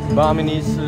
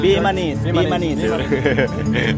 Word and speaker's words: Bimanese: This is Baminese. Bimanese. Always say wrong.